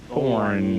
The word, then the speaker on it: Thorn: before heard song, Paul Thorn. There you go. And the E is silent. So we've had on the website an E on your last name for That's some all reason, right.